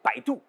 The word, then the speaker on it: Baidu: B comme Baidu, l'équivalent du Google chinois. Bai se prononce comme bye dans bye bye. Et Du se prononce tout comme l'atout et non pas du.